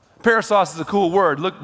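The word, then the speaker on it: περισσός: The word abundance in the Greek is pronounced parousos. Parasos is a cool word.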